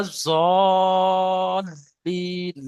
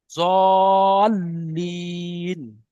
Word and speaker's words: الضالين: ওয়ালা জল্লিন, লামের উপরে তাজদিদ, লামটাকে দুবার পড়তে হবে। ওয়ালা জল্লিন। ولا الضالين জলিন।